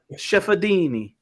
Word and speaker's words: Ciafardini: Ciafardini. Yeah. It's almost like the R is silent, Okay. Chefadini.